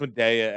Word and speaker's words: Media: I actually used to work at the one in Media. Medea. Yeah, Medea. I mean, it's a small place. It's pronounced Medea, Al.